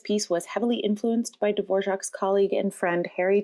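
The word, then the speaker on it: Dvořák: the next piece was written by antonin divorc a czech composer famous for composing pieces of music in the romantic era heavily influenced by folk music around the world his last name is spelled d-v-o-r-a-k but pronounced dvorak cool right he also always looked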